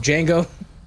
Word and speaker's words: Django: one i'm pretty sure i'm saying wango because the d is silent for those who don't get the joke of django uh but speaking of